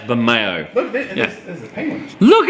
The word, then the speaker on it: Bermejo: It's pronounced Bermejo.